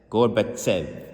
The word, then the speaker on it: Gorbachev: Gorbachev, that's how you say it, with the Tzadik.